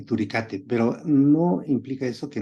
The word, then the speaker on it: turicatae: Entonces pudiéramos decir que Asfeli, Burgdorferi y Garini, las 3 están en humanos, pero Dugesi y Mazzotti y Turicate, se escribe Turicatae, pero se pronuncia Turicate, estas están en animales, pero eventualmente pudieran también infectar el humano.